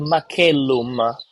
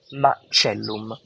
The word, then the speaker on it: Macellum: the English speaking world, you might call it Macellum. The Italian way of pronunciation of this building, of this place, it's called Macellum, but we are talking about the same place.